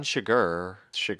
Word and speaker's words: Chigurh: Anton Chigurh, right? That's how you say it.